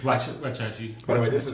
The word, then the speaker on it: Waxahachie: I've been in Texas 11 years and I've been saying Waxahachie the wrong way, and no one's ever corrected me, or Sachi, the city of Sachi. Oh, what'd you call it? I don't know. What do I call it? Wackahatchee? What is it called? What is it called? It's Wachachi.